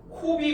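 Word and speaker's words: COBE: 그때의 위성 이름을 코비 위성이라고 읽어요. 그다음에 W맵이라고 읽습니다. Cob는 코비. 그다음에 WMAP는 W맵 위성이라고 읽는데이 두 개의 위성들을 우주로 쏴서 얘네들은 우주 마원경이죠.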